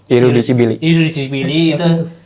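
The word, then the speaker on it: Irriducibili: Ya kalau dari gue sih memang ya kalau kita track back ke sejarahnya memang kan Boysan sama Iruki Dibli bacanya ya. Irudicibili itu sebutan ultrasnya Lazio.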